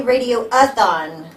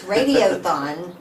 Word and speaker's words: radiothon: Don't say radio-a-thon, because Josh will correct you. It's radiothon. Gotta say it right.